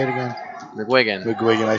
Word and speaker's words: McGuigan: Is that how you say it, McGuigan? You going with that? So, yeah. I say it wrong every time. That's how the Irish say it, so I'm going to go with it.